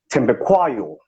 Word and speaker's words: Thembekwayo: So back in the Natal, they would say Thembekwayo, right?